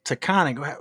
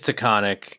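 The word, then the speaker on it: Taghkanic: But it's not takonic. How do you spell it? So, I was told that it's it is takonic and it's a different perhaps more quote unquote accurate spelling.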